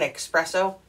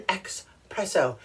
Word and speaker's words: espresso: say i like an espresso no you're not going to get an expresso you're going to get an espresso espresso got it why